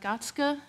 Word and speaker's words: Gartzke: Eric catskil and he's given me permission to pronounce his name in the German way so he's a professor